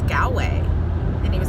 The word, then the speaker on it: Galway: And apparently people pronounce the name wrong, call it Galloway Bay. And I'm like, Galloway? I'm like, there's no extra letters in it. It's Galway.